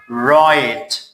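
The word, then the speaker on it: write: W is silent. هر موقعی که W قبل از حرف R بیاید از W چی میشه؟ silent میشه. Like we say right. We don't say right. It is wrong.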